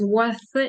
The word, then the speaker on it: worth: Є worse гірший, він вимовляється через с, а єсть worth, який вимовляється зубним рядом.